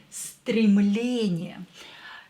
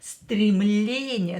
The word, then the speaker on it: Стремление: Итак, первое слово стремление. Номер один. Так. Стремление. Что такое стремление? Стремление is aspiration or urge. Aspiration or urge. Стремление.